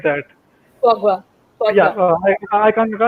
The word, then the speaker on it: foie gras: Foie gras. Foie Yeah, gras. I can't Yeah, pronounce it.